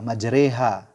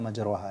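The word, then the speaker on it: مجريها: Oke, kata majreha, ya, jangan dibaca majroha.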